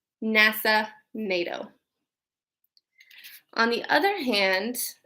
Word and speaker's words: NASA: Notice how we don't say N-A-S-A, we say NASA, so we take the initials and we pronounce it as a word.